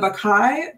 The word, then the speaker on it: Bacchae: So this is a brand new piece of theater based on, I'm going to try and pronounce this, The Bacchae by Euripides. Did I do it? Yeah, The Bacchae.